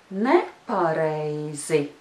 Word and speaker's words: nepareizi: But when we add another syllable in front of it, then the stress will shift and it will be on the very first syllable of the word. And that syllable is ne. Ne. And the whole word together is nepareizi. Nepareizi. The rhythm is yes, no, no, no.